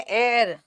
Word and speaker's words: heir: हेयर, हियर, हाँ, हियर हेयर, बेटा इसका प्रोनाउंसिएशन है एयर, HEIR को बोलते हैं एयर, हियर नहीं बोलते उत्तराधिकारी को।